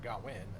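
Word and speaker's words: Gwyn: side um GN GA or gwin as as he's pronounced in W Welsh is really kind of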